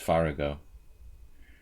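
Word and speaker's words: Farago: Murrell Merle against Merle what would yvonne farrago do i should pronounce it correctly it's far ago I don't even try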